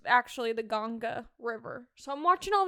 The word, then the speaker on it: Ganga: They call it the Ganga River. And it sounds weird when I say it, but I promise that's how they say it. It's actually the Ganga River.